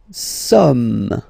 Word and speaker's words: sommes: Nous sommes, okay? Nous sommes, okay? So you don't pronounce the final S here. It doesn't exist. Sommes. Nous sommes, okay?